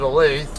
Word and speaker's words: Olathe: going by the normals or the um English pronunci yeah linguistic rules I'm calling it a lathe but uh I always hear other people call it different things a lot there or Olathe and whatever but I don't know I call